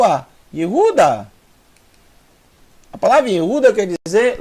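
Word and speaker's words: יהודה: então e Ru e a última são três sílabas o d mais o a euda a palavra euda quer dizer louv louvor de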